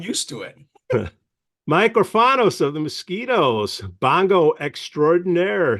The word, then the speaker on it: Orfanos: Orfanos.